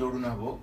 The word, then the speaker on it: Arunava: So first, I'm very happy to say hello to Kushanava Choudhury, whose name rhymes with mine. Because my name is Arunava in Bangla.